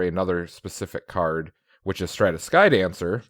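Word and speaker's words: Stratus Dancer: I saw this as I was looking for another specific card, which is Stratus Skydancer, right, Max? That's how you pronounce that?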